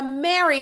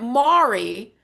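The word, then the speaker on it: Mhairi: It was like a Mary and then they corrected. They went Mari. It's actually very it's Gelick for Mary.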